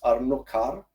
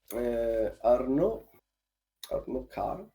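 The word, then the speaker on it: Arnaud Carré: His name is, I think the correct pronunciation is Arnaud Carr.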